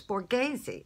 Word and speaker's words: Borghese: yours so I finally found out how to pronounce this one of my subscribers told me it's Borghese I love their eyeshadow you know who would